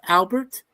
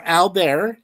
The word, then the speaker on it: Albert: It came out in 1956 and the director's name was Albert or Albear if you want to pronounce it that way.